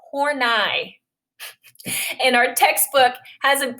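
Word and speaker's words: Horney: her last night her last name is not pronounced how you think it is it's hornai and our textbook has a has a like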